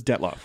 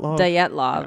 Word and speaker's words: Dyatlov: And we've been pronouncing that wrong, though. I'm still pronouncing it like I've always pronounced it. Because Josh Gates pronounced it, and I can't even think. Dyatlov or something like that.